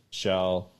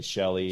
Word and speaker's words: Shell: we ended up with shell which is easy to say you say it like shell oil or whatever but um a lot of people still say shelly shelly so i'm cool